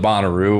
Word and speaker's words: Bonnaroo: bonnaroo music festival okay oh is it bonnaroo no boner oh i was like i was like you know this just pronouncing it i was incorrectly pronouncing it i'm going to go with bonnaroo what do you think